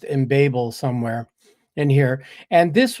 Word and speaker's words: Embabel: It looked like embabel to me, but if you look on the web page, they do claim that it's pronounced embable somewhere in here.